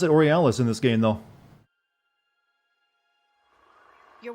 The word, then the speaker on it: Orlais: the the additional french word that i'm butchering orealis is pronounced orlais don't they pronounce it orialis in this game though your worship for what